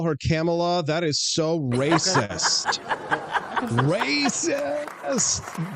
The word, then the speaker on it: Kamala: You're with Kamala, though.